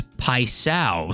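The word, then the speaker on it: Paixão: Cohen says 755, you say Paisao. So there's like a new Brazilian guy come in the game, and it's like P-A-I-X-A-O. So I was wondering how to say his name, and apparently it's Paisao.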